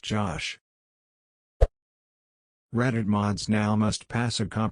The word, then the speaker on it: Gosh: It's pronounced Josh.